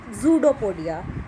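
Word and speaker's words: pseudopodia: ये जो वर्ड है देखो, ये P से स्टार्ट होता है, बट we pronounce it that zoodopodia, means P is silent.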